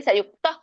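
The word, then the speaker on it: ಸಂಯುಕ್ತಃ: ವೇಗಂ ತಯುಕ್ತಹ ಅಂತ ಇಲ್ಲಿದೆ ಬಟ್ ತಹ ಅಂತ ಹೇಳಬೇಡಿ ಸಂಯುಕ್ತ ಅಂತ ಹೇಳಿ ಸಂಯುಕ್ತ ಸ ಸುಖಿ ಖ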